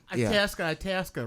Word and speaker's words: Itasca: Itasca. Rhymes with Alaska.